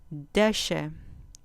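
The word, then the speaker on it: דשא: Deshe, deshe, con acento en la penúltima sílaba.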